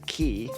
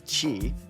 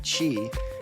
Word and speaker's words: qi: type of life force or energy known as qi, which is pronounced qi, so I pronounced it wrong just then. A type of life force or energy known as qi flows through energy pathways or meridians in the body.